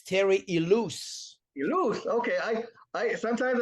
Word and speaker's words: Ilous: It's Terry Ilous. You lose. Okay. I sometimes I thought it was Terry Lewis or Terry Lewis.